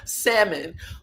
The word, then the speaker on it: salmon: Look, you're not supposed to pronounce the L. Salmon for human consumption in the United States.